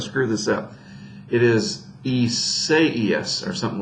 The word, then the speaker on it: Isaias: So Isaias, right?